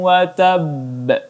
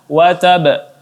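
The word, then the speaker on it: وَتَبَّ: harakat bunyi bingung nya kemudian watab di sini ada qolqolah kubro dan qolqolah kubro cara bacanya aja dengan menahan sedikit bunyi huruf ba kemudian dipantulkan kita baja tabbat Yada jadilah hadyu wacab tidak dibaca WhatsApp tetapi ditahan sebentar kemudian baru dipantulkan wacab ya ini ayat yang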